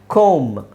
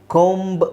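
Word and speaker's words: comb: can just say claim ಕೋಮ್ ಕೋಮ್ ಅನ್ನೋದನ್ನ ಕೋಮ್ ಅಂತ ಹೇಳಿದ್ರೆ ಸಾಕು ಕೋಂಬ್ ಅಂತ ಹೇಳೋ ಅವಶ್ಯಕತೆ ಇಲ್ಲ ಓಕೆ ಹಾಗೆ ಕೂಲಂ ಅನ್ನೋದನ್ನ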